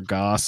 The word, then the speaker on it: Gauss: known we've always went I would say like Gauss or gas and I had I think that Gauss is the general approved pronunciation right right I don't